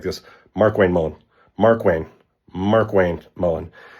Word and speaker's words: Markwayne Mullin: Mark Wayne Mullen.